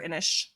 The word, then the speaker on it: Inish: So The Secret of Roan Inish or Inish. Inish. It's definitely Inish. Inish. The way Okay. it's spelled.